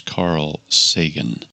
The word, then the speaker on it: Carl Sagan: Yes, the pronunciation of the name is Carl Sagan.